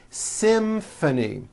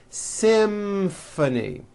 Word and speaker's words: symphony: in this next word Symphony this is a tricky one because you've got the M sound followed by an F sound Symphony and the last word